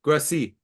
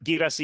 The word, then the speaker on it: Guirassy: Guirassy, that's the pronunciation, Derek. Remind me. Yep, Guirassy.